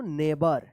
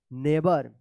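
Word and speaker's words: neighbor: आई के बाद कहीं पर भी जी एच रहेगा तो वह साइलेंट ही रहेगा।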